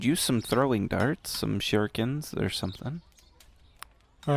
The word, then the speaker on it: shuriken: shuriken? I don't know. Fuck, it's a throwing dart. It's pronounced shuriken.